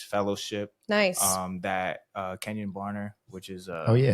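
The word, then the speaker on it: Kenjon Barner: um that uh Kenyon Barner which is uh Oh yeah, shout out. Yeah. Yeah. Kenyon Barner uh Ken John Barner if you want to pronounce it correctly.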